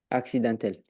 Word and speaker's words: accidentel: où je suis oui accidentel accidentel quand tu as deux c ça fait AX ou c'est comme si tu avais un X sur ce motl ok essaie de le reprononcer pour voir accidentel parfait très bien et